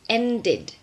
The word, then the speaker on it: ended: T and D okay so in regular verbs that end with a day or a T we have an extra syllable at the end in pronunciation okay so the past of start is started the past of want a one tit and the past event is ended so the vowel that